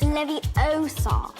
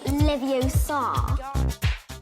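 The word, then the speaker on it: Leviosa: It's Levi-O- sa, not Levi-O- sa.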